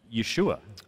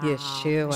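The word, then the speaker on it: ישועה: pronounce the word salvation in hebrew and it's pronounced yeshua wow yeshua so so anytime that you read in the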